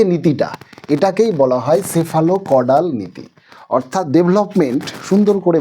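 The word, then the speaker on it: cephalocaudal: তিনটা বারবার পরীক্ষায় এসছে চল দেখব সেটা হলো সেফালো কডাল সি পিএইচ এলও সেফালো কডাল উচ্চারণটা কিন্তু সেফালো কথার অর্থ হলো হেড অর্থাৎ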